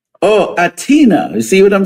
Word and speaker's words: H'atina: She goes by the name of Hatina. Did I pronounce it correctly? The H is silent. Oh, Atina.